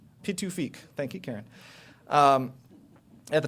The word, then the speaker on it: Pituffik: So for those of you that aren't familiar, it's now called Pituffik. Did I pronounce that right? Pituffik? Pituffik.